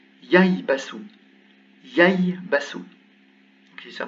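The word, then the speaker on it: يَيْبَسُ: Ensuite, un ba et un sin. Ça se prononce yaibasu.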